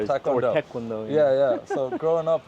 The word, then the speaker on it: Taekwondo: Is karate and taekwondo, or which one is it?